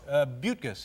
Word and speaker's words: Buttgas: And again, I must ask you, am I pronouncing that name correctly? Buttgas. Buttgas.